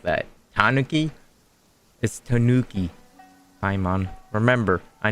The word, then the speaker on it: Tanuki: in the city remember when we chased that tanaki down this way good times are how did you say it like that Tanuki is Tanuki Pon remember I know it's been